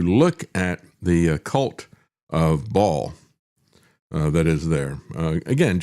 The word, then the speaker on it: Baal: And yet if you look at the cult of Ball uh that is there again just as a background um always um would pronounce it as Baal uh because it's B A L again an ancient um